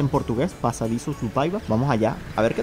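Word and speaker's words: Passadiços do Paiva: Se llama Pasadizos do Paiva, así se dice en portugués, Pasadizos do Paiva.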